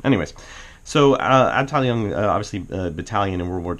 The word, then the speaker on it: Abteilung: You know when I start saying words quasi close to it in German that I must have actually looked up the pronunciation. Anyways, so Abteilung, obviously battalion in World War II, or department.